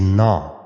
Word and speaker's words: gnaw: So the first word is na. G is silent.